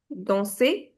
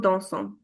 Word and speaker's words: danse: A lot of people pronounce il, elle as dansons. Okay, it's not dansons. You stop till the vowel.